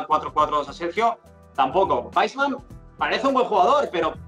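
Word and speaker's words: Weissman: Respecto a Weisman, como no sé cómo lo pronunciáis correctamente. Yo el primer día Weisman, pero me han dicho que es Weisman, así que lo pronuncio Weisman.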